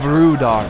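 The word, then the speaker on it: Rhudaur: Spear militia holding back the hillmen of Rudar. You gotta roll your R's every single time.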